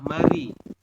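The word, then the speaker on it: 말이: enggak hananya kita sampaikan ini tulisannya Mal I tetapi anda membacanya adalah Mari tulisannya gimana Berarti Anda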